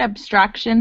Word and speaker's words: abstraction: But when you have T-I-O-N, it sounds like shun at the end.